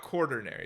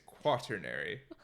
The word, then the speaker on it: quaternary: It's not quaternary. It's quaternary. How do you spell it? Q-U? It's like quarter without the first R.